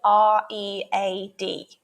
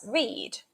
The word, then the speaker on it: read: Consider the word R-E-A-D. Now, it can be pronounced as read in the present tense. I read a book.